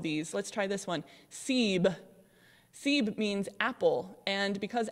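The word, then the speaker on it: سیب: idea behind including seer in the half scene siebe so i haven't had you pronounce all of these let's try this one siebe siebe means apple and because apples are red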